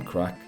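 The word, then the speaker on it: craic: No, crack is spelled C R A I C.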